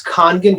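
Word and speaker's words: Kangen: so can you say the name again it's khan gin can you spell it yeah kong in water k-a-n-g-e-n it's made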